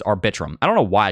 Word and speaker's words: Arbitrum: very good things about arbitrium arbitrum I'm sorry I keep saying arbitrium is arbitrum I don't know why